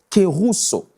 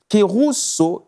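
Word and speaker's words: κηρύσσω: mot grec quelques longues que l'on prononce qui rousseau qui rousseau ke r u 2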